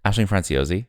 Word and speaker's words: Aisling Franciosi: How do you pronounce that name? Aisling Franciosi. Franciosi, yeah.